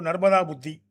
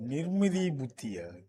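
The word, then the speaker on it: നിർമിത ബുദ്ധി: Oh, Nirmidi Buddhi. Nimridi Buddhi. Nirmida. Oh, I mistakenly told Narmada, right?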